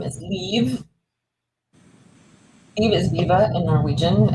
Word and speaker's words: Liv: what's your real name my real name is leave Steve is Viva in Norwegian and seemingly unpronouncable for most people so do I call